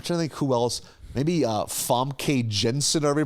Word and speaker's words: Famke Janssen: Maybe Famke Jensen, however you pronounce her name. Yeah. Famke Janssen.